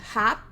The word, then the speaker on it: hop: Então, esse cara aqui vai ser hop. Esse cara aqui vai ser hope. Porque não tem o E, a gente vai fazer a pronúncia curta.